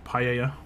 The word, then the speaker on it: paella: But I think it's paella. Don't pronounce the L's.